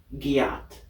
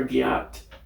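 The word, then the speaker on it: gyatt: right the word is gat what Gat spell that word g y a t t Gat Gat G yeah Gat sounds like Get please use it in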